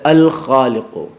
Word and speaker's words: خالق: ذات تک پہنچا جا سکتا ہے، وہ ہے الخالق۔ الخالق، ہمارے معاشرے کی ایک بڑی خرابی یہ